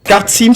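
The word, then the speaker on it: Kartsym: Kartsim, ça s'écrit avec un K-A-R-T-S-Y-M.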